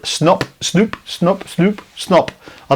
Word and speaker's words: Snop: Snoop. Snop. Snoop. Snoop. Snoop. Snop. I don't know how it's pronounced. I'd say Snop because Snoop would be two O's, wouldn't it? So, Snop by Blaze Beach.